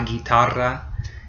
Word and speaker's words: guitarra: It's a tongue roll. It's a R. So la guitarra. It takes some time to master that. If you can't do it right away, don't worry about it. It took me quite a while. So it's just like your R, but you just make it stretch it out a little bit longer. La guitarra.